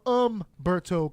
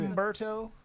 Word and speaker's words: Humberto: You don't pronounce the H. It's spelled with the H. Ache. Yeah. Ache, Got that that's it. Humberto?